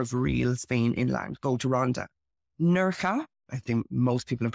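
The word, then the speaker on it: Nerja: e or J A in Spain J is pronounced as H so always say nurka nurka is really famous for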